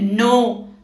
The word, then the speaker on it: knee: के is usually silent when it precedes n in a word, जैसे नी, नो, knowledge, KNEE, नी, knife। K for knowledge, silent K, क्योंकि इसके आगे क्या आ रहा है?